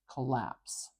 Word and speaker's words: collapse: is lying to us we have two L's here I'm not saying that sound extra long and I'm not changing how it's How It's pronounced collapse collapse I'm not saying collapse extra long no just one so I can just put